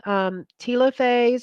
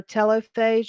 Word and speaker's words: telophase: end then you've got telophase or telophase you'll hear it pronounced both ways you start seeing the